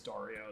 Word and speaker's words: Dario: pronounced I'm of course I'm going by the Spanish pronunciation of it no you're right I